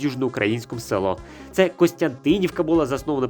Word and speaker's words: Южноукраїнськ: Кропивницький скільки букв мають неправильно наголос ставлять кажуть Южноукраїнськ замість Южноукраїнськ може нам всю країну